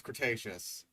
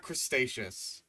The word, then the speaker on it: Cretaceous: They were He can pronounce Cretaceous, not Crestaceious.